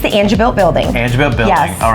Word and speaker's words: Angebilt: mayor everyone was here and how do you pronounce it the an an it's the angil building angil building all right yes how long